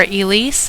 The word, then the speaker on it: Elise: Now this word right here, Elise, that's how it's pronounced, there is a character who says it in their critical line. It's basically just the same as the healer from Conquest, Elise, who I really like.